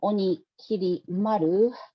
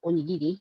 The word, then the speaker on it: Onikiri Maru: moniker, Demon Slayer or Onikiri Maru. I have to be careful not to pronounce this onigiri.